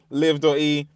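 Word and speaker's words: Liv.e: I I thought I thought it was always I thought it was Liv E is the way. It's just live. It's just pronounced live.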